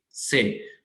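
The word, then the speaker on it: c'est: great, genial, से genial, से जो सी के साथ ऊपर ऐसे मैंने लगाया है लाइटनिंग और ईएसटी, इसको बोलते हैं से, लाइक प्रोनाउंसिएशन ऐसे है से, इसका मतलब है दैट्स,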